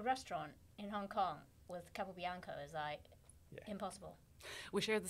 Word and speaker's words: Capobianco: It's Capobianco. Capobianco.